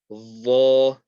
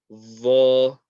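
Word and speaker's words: ظ: And this one here is the tip of the tongue touching the tip of the top two teeth. Again, lots of pressure. Vo. Vo.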